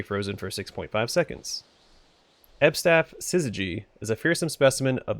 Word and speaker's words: syzygy: Alright, so this is pronounced syzygy.